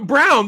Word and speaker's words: Braun: guy like a Christian it's brown but it's spelled Braun or whatever spell Brawn but it's brown yeah it's actually the